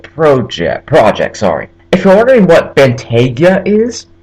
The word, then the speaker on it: Bentayga: If you're wondering what Bentayga is, it's a Bentley SUV. I believe it's spelled just how it looks, which is Bentayga.